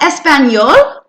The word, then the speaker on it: español: Focusing on the special letter sounds, H being silent, hablo, y, ñe making the ña sound on español. Good job. ¿Hablas español?